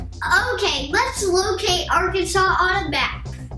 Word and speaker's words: Arkansas: daddy it's arkansas not our kansas uh okay girls so if i understand you the name of the state is the french spelling of a native american word that's actually pronounced arkansas right we need to